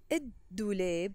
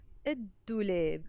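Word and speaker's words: الدولاب: So I'm gonna say id douleb, the wheel. Id douleb. So we will write it il douleb, but we will pronounce it id douleb.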